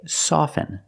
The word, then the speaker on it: soften: With both words, I don't pronounce the T. I say soften, and I say often. But sometimes you'll hear people say often, and it's not wrong, it's okay.